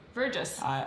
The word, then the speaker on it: Verjus: So now I'm actually gonna look up how to pronounce it. Oop. How to, and because I don't know, I didn't trust if Google was right. It might be right. Pronounce Verjus. See. Verjus. Nope, it is right.